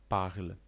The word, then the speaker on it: parlent: Oznacza ona, że jeśli widzisz końcówkę „ent” w czasowniku, nigdy jej nie wymawiamy . To tylko reguła: mówią „parlent”, „ent” tutaj nie będzie słyszalny, my tylko je zapisujemy.